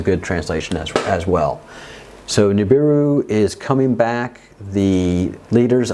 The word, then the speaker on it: Nibiru: You don't have to roll your R. I speak Spanish. I'm half Spanish. I'm half Basque, actually. So I can roll my R's. And for Americans or North Americans, Nibiru is a good translation as well.